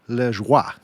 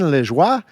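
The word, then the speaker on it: Lajoie: They acquired a player named Napoleon Lejoie. And I actually spoke to a former colleague of mine who's Canadian. They gave me the correct pronunciation, so I hope I'm hitting that correctly. But Napoleon Lejoie, he was acquired by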